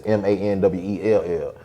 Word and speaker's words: Manuel: So because it's not spelled like, my Manuel is not spelled the Spanish way. Manuel, it's Manwell.